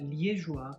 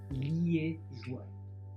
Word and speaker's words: liégeois: And chocolat liégeois means hot chocolate with whipped cream on top. So chocolat chaud, chocolat liégeois. Liégeois. Make sure you pronounce that good, not liégeois.